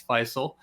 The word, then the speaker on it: Faisal: That's the way you'd like to pronounce that, as I've heard some interesting different choices on how to pronounce that on some broadcasts. It's Faisal.